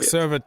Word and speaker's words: Servette: against seret FC s how you say it seret yeah Ser it Ser it FC yeah